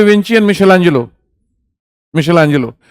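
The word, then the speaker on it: Michelangelo: मिशेलांजेलो, माइकल एंजेलो लिख लो, वही मिशेलांजेलो हो जाएगा।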